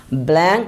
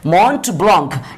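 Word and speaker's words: Mont Blanc: দেখি সর্বোচ্চ শৃঙ্গের আমি তখন দিলে আগে, তারপর মন্ট ব্লঙ্ক, হ্যাঁ MONTBLANC, ব্ল্যাঙ্ক উচ্চারণ হবে না, উচ্চারণ হবে ব্লঙ্ক, হ্যাঁ মন্ট ব্লঙ্ক।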